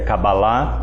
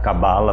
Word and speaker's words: cabala: cabala significa receber né É lógico que a a pronúncia certa é cabalá mas eu gosto de pronunciar cabala porque fica mais nosso uhum né Uhum e